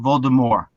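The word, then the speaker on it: Voldemort: to get used to it is Lord Baltimore there's no T no more and there's official look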